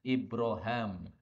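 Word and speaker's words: إبراهيم: Indonesia ini membacanya Uswah kemudian Ibrohim disini bisa dibaca ibrahem ini tidak semua tempat jadi kata-kata Ibrohim dalam Alquran tidak semuanya bisa dibaca ibrahem disini bisa dibaca oleh Imam Ishaq Ibrahim menjadi ibroh M2 kalian Ibrohim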